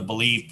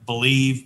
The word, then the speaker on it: BLEAV: It's on the Believe Podcast Network, which is what is that called? Say that again. Podcast on the Believe Podcast Network, and it's spelled BLEAV.